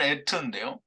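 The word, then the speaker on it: עת: 같은 그 이제 발음은 에트인데요. 이 하나님이 400세계를 내는 것은 알레프를 쓰는데요. 여기는 스트롱 코드가 625이고요. 여기 에트는 안식의 말씀이라고 하는 그 아인을 사용합니다. 그래서 아인 테라고 하는데요. 근데 그걸 에트라고 똑같이 발음을 합니다.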